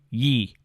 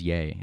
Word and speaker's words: Ye: kanye omari west to yee i think it's yay actually is it yay yeah it's it's spelled y e so it's showing your